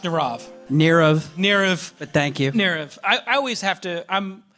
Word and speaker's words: Nirav: Nirav, it's pronounced Nirav.